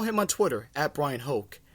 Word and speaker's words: Hoch: on Twitter at Brian Hoch H och it sounds like coke not spelled like it but it certainly sounds like it but with the Yankees